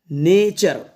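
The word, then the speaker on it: nature: pattern ये है कि किसी भी वर्ड के लास्ट में टी यू आर ई एक साथ आए तो इसको पढ़ा जाएगा चर क्या पढ़ा जाएगा चर ये आपको चर का साउंड देगा टी यू आर ई एक साथ आएंगे वर्ड के लास्ट में तो इसको चर बोलना है आपको ठीक है चलो अब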